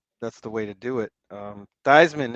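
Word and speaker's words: Theismann: Did you know that he and his family originally pronounced it theman? Notre Dame changed it. Notre Dame changed it. You know why? Thyman for the Heisman, not theman for the Heisman.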